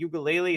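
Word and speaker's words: Uiagalelei: Washington State has a Heisman candidate at quarterback in Cam Ward, and Oregon State has DJ Ugalele. Is that how you pronounce his last name? Yep, nailed it. Perfect.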